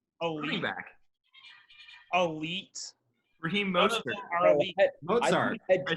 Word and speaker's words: Mostert: Mozart.